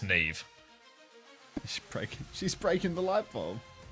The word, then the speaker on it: Saoirse: Yeah, I have a friend whose name is this, and it's pronounced Neve.